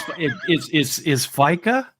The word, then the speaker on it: fika: it pronounced FICA or is it FICA or is it what does it say back there? The pronunciation is here. Yeah, but I can't see that. It's Fika, but it doesn't matter.